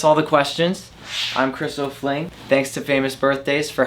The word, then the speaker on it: O'Flyng: Follow me on my YouTube and my Instagram, at Chris O'Fling. O'Fling is spelled O-F-L-Y-N-G. It's a little bit weird. There's no I in that.